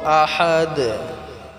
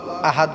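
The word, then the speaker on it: أحد: আল্লাহু আহাদ বলি আল্লাহু আহাদ বলি আল্লাহু হবে না কুলহুল্লাহু আহাদ এখানে হাটাকে আমরা গলায় চাপ দিয়ে উচ্চারণ করব আহাদ আহাদ বললে হবে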